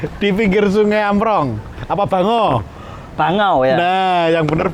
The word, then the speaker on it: Bango: Kalau di peta Bangau, kalau di Google, Sebentar, nah ini perlu diluruskan. Bango, sebenarnya Bango yang ya? bener itu. Jadi Bukan Bangau. pelafalannya Bango, Oh, bukan Bango, bukan Bangau. Nanti dikira burung lagi.